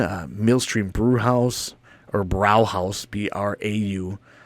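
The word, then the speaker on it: Brauhaus: ox Yol in uh mstream brew house or brow house BR a h a u s is how they spell it uh but it's right on a little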